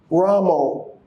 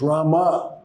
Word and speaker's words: Rama: So when the Maharaj was singing, immediately when he said, Ramo, Prabhupada stopped him. He said, you don't chant. The mantra is not Brahmā, it's Rama.